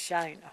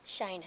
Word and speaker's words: Shanna: And I think I said your name wrong. It's Shanna. Shanna, yes, ma'am.